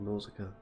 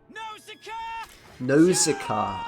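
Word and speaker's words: Nauzicaa: this round go with nausica nosika as i i should say uh pronunciation a little bit off there getting called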